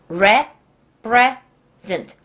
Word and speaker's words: represent: 공할 때 가장 어려워하는 단어예요이 단어는 repres present re present repres present re present repres present 레나 리나